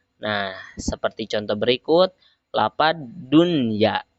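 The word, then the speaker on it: دنيا: Dunya itu hukum membacanya meskipun harusnya kan nun sukun menghadapi ia termasuk ke dalam idgham ma'al gunah, tetapi ketika ada nun sukun dan ianya atau huruf idghamnya terdiri dalam satu kalimat, maka hukum membacanya harus dibaca izhar. Tidak boleh dibaca idgham ma'al gunah, tapi harus dibaca idhar.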